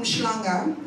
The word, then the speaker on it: Umhlanga: I'm in Cape Town, man, I'm from Umhlanga in Durban. You gotta say it like that so we know it's real.